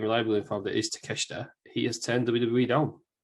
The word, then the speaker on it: Takeshita: Well, apparently, we couldn't pronounce his name last week. We've been reliably informed that it is Takeshita.